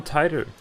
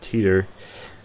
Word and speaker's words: Titor: claiming to be John Titor or Teeter my John Peters back I think it's actually pronounced tighter in the show so gent I repeat